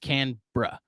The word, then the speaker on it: Canberra: not Melbourne it's Canberra it's spelled Canberra here in the States but it's pronounced can bruh um and I am